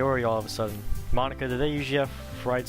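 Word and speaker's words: Monika: right in your name Monica yeah that's not how you say my name at all also wait what Monica that's how you say it mo nica that makes that joke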